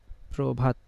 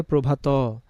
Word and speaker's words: প্রভাত: রফলা বসলো তাহলে ওই অটা কি হয়ে যাবে ও হয়ে যাবে এজন্য আমরা শ্রম না